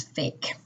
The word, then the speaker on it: PHEIC: of international concern or the acronym pheic which is pronounced as fake the who had previously